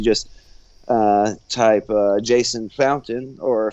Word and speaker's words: Fountain: uh type uh jason fountain or fontaine was how you might want that's how they pronounce it in latin america fontaine but but jason fountain is easiest way to